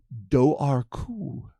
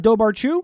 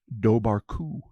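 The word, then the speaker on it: dobhar-chú: The And I'm going to get this right for the first time ever, Daru. Do Oh, it's Dobaru. which forever I have phonetically pronounced just like you like I think I did it just last week.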